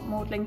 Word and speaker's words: Magdalene: and it's all about the life of mary magdalene which is what modelling college is named after don't ask about why it's pronounced differently that's just something else but yeah